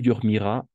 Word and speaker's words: dormiras: Niveau prononciation, tu dormiras, il dormira. La même chose, n'est-ce pas? Le S, on n'entend pas.